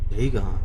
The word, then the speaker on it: Dagon: Dagon.